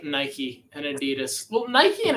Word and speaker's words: Nike: It's Nike. Because like it's literally the Greek god of victory. So either you say it the Greek way or the wrong way.